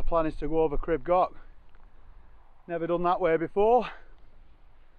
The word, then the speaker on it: Crib Goch: We're going to be going up the Pyg Track before heading off up Crib Goch. Apparently that's the right pronunciation of it, but you know me and my Welsh, don't mix very well.